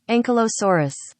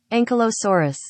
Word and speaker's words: Ankylosaurus: Ankylosaurus. Well, I said it wrong. Let's try that again. Ankylosaurus.